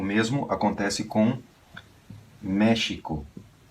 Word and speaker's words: México: o mesmo acontece com México se escreve com x Esse é o ideal e se pronuncia j mer vai ter gente